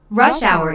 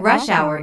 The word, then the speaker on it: rush hour: notice that rush hour is a compound noun with the main stress on the first word isn't that this is